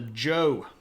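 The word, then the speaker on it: Zhou: ruling Dynasty called The Joe and it's uh ironically not pronounced like it's spelled I the Chinese language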